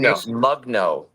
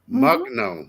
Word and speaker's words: Mugno: I've been Mugno. Mugno. Just the way it's written.